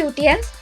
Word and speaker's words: Lutyens: I'm not sure if I'm pronouncing it correctly, but it should be Lutyens, a renowned British architect.